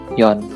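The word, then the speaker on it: 四: Untuk angka 4 disebut shi. Nah, untuk pengucapan keduanya yaitu yon.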